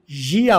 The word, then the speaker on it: year: तो कान को ईया बोलना है और साल को यिया बोलना है। आर दोनों में मैंने प्रोनाउंस नहीं किया, आपने सुना, ठीक है।